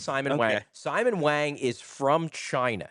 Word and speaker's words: Simon Wang: This is, is it Simon? Simon Wang. I've just been saying Simone. So, I believe it's Simon Wang.